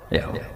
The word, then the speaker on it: Yahweh: Yahweh. Iku nak teng ejaan Latin Y besar, A H besar, W E H besar, Yahweh.